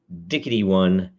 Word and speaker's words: 0xd1: This is episode Dickety-1, 0xd1, the 210th episode. Yes, that is actually how you pronounce that. Hex number D1, Dickety-1.